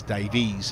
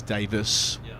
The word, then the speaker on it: Davies: effective spell lucy adds i've never heard davies pronounced as davies until i moved to england okay wait say that again so she's only ever seen it pronounced as davis whilst in wales and since moving here occasionally some scallywag like me will get out there and say hang on what's going on with that e she'll be splitting her